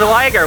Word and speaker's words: Ryger: like how it's pronounced in Japanese, but it it's not even pronounced like it's it's pronounced as liger.